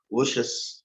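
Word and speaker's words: Vosges: இதோடைய எப்படி இதை ப்ரொனவுன்ஸ் பண்ணணும் அப்படின்னு சொன்னா கீழே பாத்தீங்கன்னா ஓஷஸ், VOSGS, பட் the pronunciation is ஓஷஸ்.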